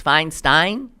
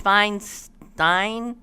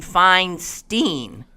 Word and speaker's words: Feinstein: Feinstein you kept pronouncing your name fine steam with a long e but most people including your cute little sister Sue's pronounce it feinstein with a long eye which happens to rhyme with einstein one of the smartest